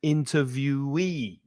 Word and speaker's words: interviewee: Interviewer, stress the 1st syllable, interviewer, and interviewee. So the "e" at the end is stressed, interviewee. The interviewer asks the questions in a job interview, and the interviewee answers the questions.